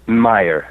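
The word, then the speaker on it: Mayr: Franz Xaver Meyer, M-A-Y-R, F.X.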